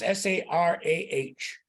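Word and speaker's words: Sarai: talk to Sarah and it's pronounced as if it was s-a-r-a-h Sarah rice the reason it's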